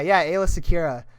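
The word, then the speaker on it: Aayla Secura: Or it's like Ayla Sakura. Yeah, Ayla Secura.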